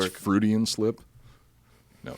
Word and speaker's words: Freudian: Floydian slip. Cafloidian slip. I Vin think, Diesel and pussy in the same. I right next to think each I other. think it's Good pronounced work. Freudian slip.